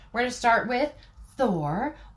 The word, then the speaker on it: Thor: So we're going to start with Thor or Thor. That would be how you say it in Norse.